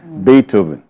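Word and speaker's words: Beethoven: I said bethoven okay not bethoven it's a German name bethoven so Dr kard made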